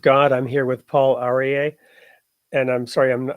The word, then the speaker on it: Aryeh: I'm here with Paul arier and I'm sorry I'm I'm sure I'm mispronouncing your name do you want to go ahead and share it with us you said it perfectly Paul AR okay great so you